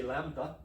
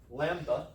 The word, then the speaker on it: lambda: use the Greek letter lambda for that, whereas my Greek friend would say lambda. He says we're pronouncing it wrong. It's not a duh, it's a the. Lambda. He would actually be like lambda.